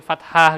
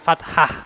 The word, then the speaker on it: Fattah: Hai Rasulallah Iya jadi Fatah gitu ya kayak Sanes Fatah tapi Fattah ya Fattah Jeng patah beda Tuh kan you pengucapan